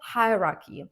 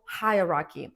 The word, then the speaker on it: hierarchy: Increase the button size to improve visual hierarchy. Now pay attention to the pronunciation of this phrase and words. The word hierarchy, it's difficult, right? But not really. I want you to break it into two parts.